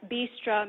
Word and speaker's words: Bistra: and drink are served if that's a bistro then bistro would be the feminine of that word right that's what i kind of try to explain to folks who have difficulty pronouncing my name i always point him to that word first and then explain that